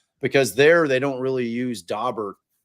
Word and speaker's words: Daubert: And I prefer the Daubert, the kind of the French pronunciation.